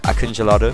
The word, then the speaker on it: Akıncıları: Just immediately, I'm going to give the translation of the 3 Akıncıları, which is how you pronounce it.